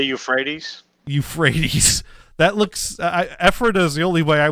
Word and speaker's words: Ephrata: At least you pronounce Ephrata correctly. Some people who are out of towners say Ephrata. I don't see how you get that. They don't just say Euphrates? Euphrates. That looks Ephrata is the only way I would think to